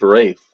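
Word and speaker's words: Ralph: him why the is it pronounced Rafe oh you think that's what it was yeah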